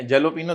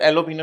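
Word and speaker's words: jalapeño: हैं आप लोग अनियन पहले जेलोपिनो देखने में लगता है एलोपिनो शायद उसको बोलते हैं लोग जे साइलेंट होते हैं एलोपिनो अलग बेचा है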